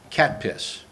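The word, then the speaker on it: CATPS: I call it cat piss. That's C-A-T-P-S. How else would you pronounce it?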